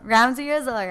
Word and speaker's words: Ramzyrizzle: Ramzyrizzle, right?